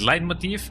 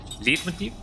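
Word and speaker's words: leitmotif: All All of my life I've been pronouncing it lead motif, but it supposedly it is a light motif or something of the sorts something like that.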